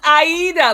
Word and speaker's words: Aida: It's Aida, like the opera.